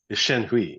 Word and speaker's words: Shenhui: impression of it of him is the is Shen Hui, the or how do you pronounce it?